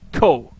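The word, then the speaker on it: こ: just me getting funky co co it's pronounced CO as in Coco I like my hot coco all right now we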